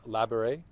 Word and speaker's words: Labrie: It's how I pronounce it may not be absolutely correct, but it's Labrie.